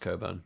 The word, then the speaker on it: Cockburn: Yeah, it is actually pronounced Coburn.